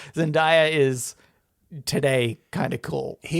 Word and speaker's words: Zendaya: Am I pronouncing it wrong, by the way? You say Zendaya. I say Zendaya. I feel like Zendaya is probably right.